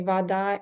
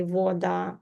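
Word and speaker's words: вода: Like we say water, we say vada, and maybe in some places they say voda, more like o, but still you will understand.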